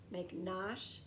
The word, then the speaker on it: McNosh: a rhyme right there mcnaught rhymes with wash because it sounds the same at the end make nosh has an ash sound at the end and so does wash so let's see if